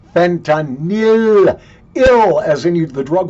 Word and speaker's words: fentanyl: them um you know we've got this big fentanyl Problem by the way for God's sakes I don't care Fox News CNN MSNBC CBS NBC ABC or anybody else for Christ's sake the drug is not pronounced Fentanyl look at the way it's spelled you freaking